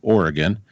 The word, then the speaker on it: Oregon: that's an Oregon Ohio Oregon is spelled like the state of Oregon but us Midwesterners say Oregon Ohio is Oh H four